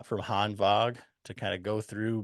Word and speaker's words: Hanwag: say dude I I love that you said Han vog that's that's the that's the proper pronunciation of the brand so you know kudos